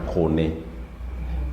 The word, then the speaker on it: kone: Kone. Kone and corn. It is basically corn and kone. In English, we pronounce it as corn, but in the Luo, it is kone.